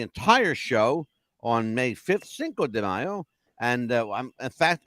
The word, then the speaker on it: Cinco: So we've got on May 5th, Cinco de Mayo. Yes. And I had to learn how to say it. I spelled it Cinco.